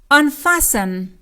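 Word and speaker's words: unfasten: کمربند مثلاً کمربند صندلی آنفسن آنفسن آنفسن فسن دقت داشته باشیم که حرف تی در این کلمه تلفظ نمیشه سایلنت است و فقط نوشته میشه بنابراینسن به این صورت تلفظ میشه مثال بعد از فرود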